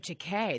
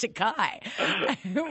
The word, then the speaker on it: Takei: George pronounces his name to K the K rhymes with may Ray B it is commonly mispronounced to Kai which Kai rhymes with